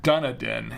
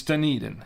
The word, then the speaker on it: Dunedin: that correctly did you no it's not done a den it's Dunedin I because I I'm